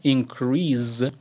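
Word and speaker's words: increase: اینکریس ببینید تلفظش اینکریس هست یعنی آخرش س میاد ولی اگه به عنوان فعل استفاده بشه اینکریز یعنی صدای ز میده در انتهاش.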